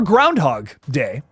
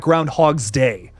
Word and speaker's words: Groundhog Day: out on Friday for Groundhog Day which it is groundhog day not Groundhogs Day I have been saying it wrong my entire life ladies and gentlemen but